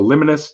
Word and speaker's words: Liminis: You can find Liminus on SoundCloud. By the way, Liminus is spelled Liminis. It's Latin for on the threshold.